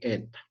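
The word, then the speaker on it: η: Se lee o se escribe así, eta.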